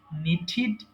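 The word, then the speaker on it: knitted: NEET, নিঠিড, নিঠিড। একটা উচ্চারণ একটু এই করে দিই, এটা হচ্ছে টি ইডি থাকলে অবশ্যই ঠিড উচ্চারণ করবেন, মনে রাখবেন।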